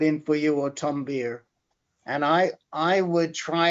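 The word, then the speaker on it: Baer: see um tom tom bear um beer uh tom beer i think he spells it b-a-e-r but he pronounces it beer um julie graff g-r-a-f-f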